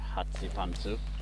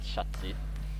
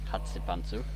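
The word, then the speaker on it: Chatzipantou: It's Hatsipantu, not Shatsi. Hatsipantu.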